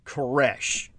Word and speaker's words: Koresh: cyrus with anglo-corruption in your language c-y-r-u-s it's pronounced koresh this is whom david koresh of the branch